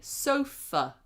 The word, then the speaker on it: sofa: So even though it's an a, we don't say sofa. We go sofa.